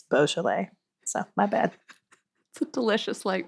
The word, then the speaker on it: Beaujolais: do you like Beaujolais I just recently learned this and I was saying it wrong for like months I said boujolais because I thought it was bougie but it's Beau Chile so my bad delicious